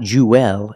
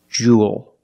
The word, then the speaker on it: jewel: It's pronounced the same as cool and pool. You have the long ooh sound plus the dark L. There's no extra vowel. It's not jewel. It's jewel. Like pool and cool.